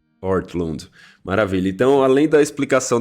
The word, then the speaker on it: Ortlund: Qual é a pronúncia certa, Tiago? Gavin Ortlund. Ortlund.